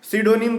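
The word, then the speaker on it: pseudonym: पी से start है तो पी यहां पे साइलेंट है अब गे पी और ये साइलेंट है अब अंग्रेज से जाके पूछना वही सब बनाया है ये सब sidonim का मतलब होता है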